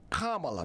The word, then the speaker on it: Kamala: As late as August 13th, 2019, Vice President nominees at Senator Kamala, that's how I say her name, Kamala Harris, in a tweet said this: Michael Brown's murder forever changed Ferguson and America.